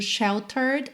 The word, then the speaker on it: sheltered: Como a gente viu, sheltered é o passado de shelter. A gente coloca D para fazer o passado, mas o E não é pronunciado, tá bem?